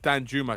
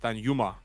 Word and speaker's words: Danjuma: It's not Danjuma, it's Danjuma. Danjuma. I thought it was Juma. No, you don't pronounce the J in Dutch.